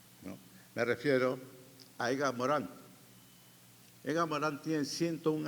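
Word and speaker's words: Morin: ciudadano Planetario no entonces Edgar Morán se escribe Edgar Morín pero como es francés se le pronuncia a Morán No pero si usted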